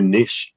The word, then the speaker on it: niche: got to find a niche too Niche and nich are both proper ways to pronounce that by the way but